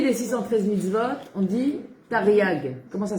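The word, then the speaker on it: תריג: comment on dit les 613000 votes on dit tariag. Comment ça s'écrit ?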